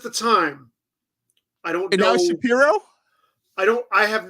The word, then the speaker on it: Shapiro: time I don't know Shapiro I don't I have not seen footage of him enough he used to pronounce it shapy and he would correct you um and I want